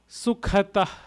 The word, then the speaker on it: Sukhata: Sukhata, K-H, Kha. Sukhata, Sukhata, Sukhata.